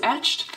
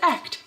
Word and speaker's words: Echt: I thought it was etched. It's actually pronounced Echt. Who knew?